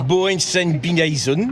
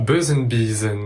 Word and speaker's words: Bösenbiesen: On ne dit donc pas Boensen-Bineisen. mais Bösenbiesen.